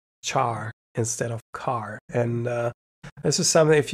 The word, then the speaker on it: char: still in my brain, char instead of car. Or it has to be car because it's character.